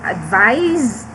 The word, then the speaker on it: advise: between the use of advice and advice okay aside from the pronunciation okay this one is pronounced with letter z and this one is pronounced with letter s okay so aside from